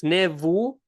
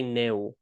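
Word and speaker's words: નેવું: Ne- It's nevu, but people usually say neu.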